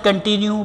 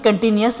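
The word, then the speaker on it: continuous: तो इसको correct pronunciation होती है कंटिन्यूस है, ये लिखा आ रहा है। ये देखिए आखिर में OUS लिखा आ रहा है तो कंटिन्यूस होता है, नॉट कंटिन्यू।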